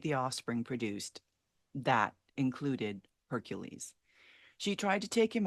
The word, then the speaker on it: Heracles: by the name of Hercules or as the Greek would pronounce it Heracles as is often the